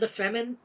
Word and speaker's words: Fremen: Yeah, it's pronounced Fremen, but it's very clearly supposed to be free men.